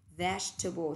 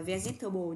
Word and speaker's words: vegetable: Vegetable, tuyệt đối không đọc từ là vegetable nha. Từ này đọc là vegetable, bằng với từ veggies, rau củ quả.